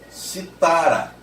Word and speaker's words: citara: Imagine o mesmo verbo no pretérito mais que perfeito. Citara. No sentido de tinha citado. Citara. Imagine agora, por favor, aquele instrumento musical chamado cítara. E aí a sílaba tônica é a terceira de trás para frente.